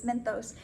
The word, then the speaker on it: Mentos: Mentos and soda, I always say this word wrong, Mentos and soda, I always want to say it like thos, Mentos.